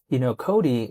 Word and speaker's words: COTI: Cody, it's spelled COTI, but remember quite a